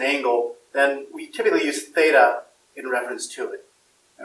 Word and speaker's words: theta: is called symbol as theta it's a Greek letter it comes to the Greek alphabet and it makes a th sound in that house that's